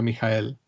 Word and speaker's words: Michael: Digo Michael, no Michael, porque estamos en el ambiente alemán. Entonces esto se pronuncia Michael Maestlin.